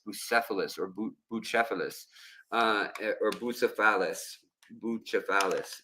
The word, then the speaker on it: Bucephalus: Bucephalus is, I guess, how you would say it in Greek.